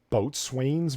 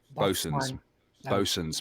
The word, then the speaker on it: boatswain: The word with the W that is silent, apparently.